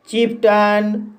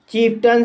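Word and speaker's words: chieftain: जैसे चीफ्टन, चीफ्टन शब्द में टी के बाद ए आई एन आया है, इसलिए ए आई का उच्चारण आ किया जाएगा, इसलिए इसे चीफ्टन पढ़ा जाता है।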